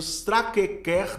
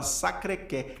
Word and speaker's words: Sacré-Cœur: Ele não usa a pronúncia no francês, mas ele fala Sacré-Cœur.